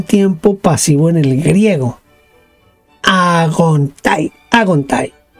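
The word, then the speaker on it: ἄγονται: Agontai, haciéndole el acento en la A, agontai.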